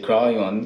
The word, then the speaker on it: Kryon: We say Kryon, so it's K-R-Y-O-N.